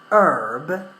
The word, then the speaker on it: herb: done in British English herb is American English Herb in British English we pronounce the letter H yeah or the sound